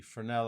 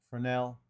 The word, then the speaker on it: Fresnel: search and type in fresnel and it is for an L yes is silent go and I put